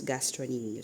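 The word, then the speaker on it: gastrocnemius: It's spelled as gastroemus but is pronounced as gastronomius.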